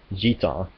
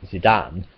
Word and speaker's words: Gitan: His name, which is written as Jitan in Japanese, was actually supposed to be Gitan, which is spelled Gitan and is French for gypsy, fitting as his last name is tribal, which means basically tribal gypsy, you know. They mistranslated it as Zidane, which is a Brazilian name